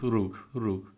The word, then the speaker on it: Róg: Rog or Rug? Rug. Rug. It's in Polish. It's Rug, but it's impossible to pronounce.